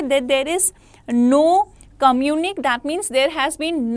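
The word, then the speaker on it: communiqué: What is communic? देखिए, communicate is another thing. Communic. Now after E you won't pronounce the complete E because there is this symbol on top of it, right?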